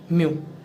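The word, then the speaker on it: μ: एम यू ऐसे pronunciate हुआ है म्यू.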